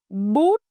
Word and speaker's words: bút: Rounded for u, flat for ư.